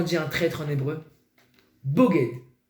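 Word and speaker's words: בוגד: Ça s'écrit de la même façon, Bet, Gimel, Dalet, sauf qu'au lieu que le point soit sur le Bet pour prononcer le B, il est en haut pour le prononcer O.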